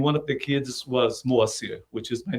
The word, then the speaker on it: Moacyr: But MoAcyr. Yes, very close. Very close. Very close. Welcome to the Yeah. show, and thank you you. for being here. The right pronunciation is MoAcyr.